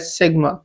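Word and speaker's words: sigma: ऑफ the Greek alphabet pronounce as सिग्मा ठीक हो गया इसको सिग्मा से प्रोनाउंस किया जाता है इज यूज टू डिनोट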